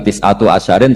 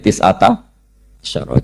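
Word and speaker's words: تسعة عشر: tisata Asaro utawi solongol tetap bacanya bukan tisatu asarin tapi tisata Asaro jadi kita tahu secara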